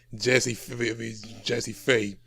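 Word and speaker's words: Jazze Pha: And the person you're trying to pronounce right, it's pronounced Jazzy Faye, who's he's a very was a well-known producer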